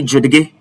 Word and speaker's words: judge: Will you say Judge or you will say Judge or Judge? No, it is judge. And that tells you that the D here is silent.